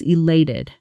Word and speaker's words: elated: When you say this word to express real excitement, your voice should actually rise slightly on that sen, on that stressed syllable, almost like you're smiling with your voice. Try it with real energy. I was elated.